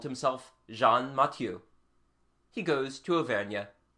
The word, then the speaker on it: Jean: and have called himself Jean matu he goes to AIA the local pronunciation turns jean into Shan he is called Shan matu our man offers no